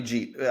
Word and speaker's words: Jeet: I'm just It's got to be Jeet. I mean, the way he spells it, I know everyone's saying Jet, but no, if you're gonna spell it like this, you're Jeet. You're Jeet.